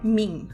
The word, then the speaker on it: meme: que me deve e ele disse que a palavra deve rimar com kim ou seja em inglês a pronúncia certa é mim mas é que a